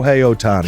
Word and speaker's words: Shohei Ohtani: I don't want to dip mispronounce his name. Shohei Ohtani.